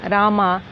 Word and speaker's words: Rama: Similarly, Rama is pronounced as Ram, Krishna as Krishna, Raga as Rag, Yoga as Yog.